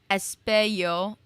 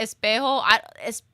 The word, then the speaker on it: Espio: Oh, Charmy Bee, Vector, and Espio. My brain wants to say Espejo. Espio.